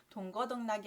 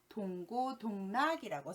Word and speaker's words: 동고동락: 우리가 흔히 동거동락한다 라고 표현을 하는데요. 동거동락이 아니라 동고동락이라고 써야 맞는 말이죠.